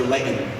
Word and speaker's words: Layton: of power that's true the glottal stop it's a very utah thing oh okay i have